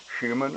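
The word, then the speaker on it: Schumann: about it but it's called human resonance and that's spelled s-c-h-u-m-a-n-n human resonance and that is as near as i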